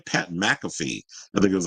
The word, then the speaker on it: Pat McAfee: pat mcafe MF how do you say name Pat McAfee I think it was like I was like damn why couldn't I say his name I was say maffy maffy girl m but anyway they said the